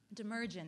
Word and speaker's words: Demirjian: Demirjian. It's like emergency, but with a D on the front and minus the C at the end. Okay. Demirjian.